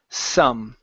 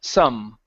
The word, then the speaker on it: some: that's good good um the last one here is Sam right here instead of sa Sam with an a sound it's an uh su su some okay good so this